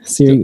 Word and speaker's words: Ciri: Siri, what's her Siri. Cyril? How do you pronounce her name? Like your phone.